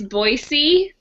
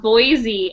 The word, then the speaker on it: Boise: It's Boise, not Boise.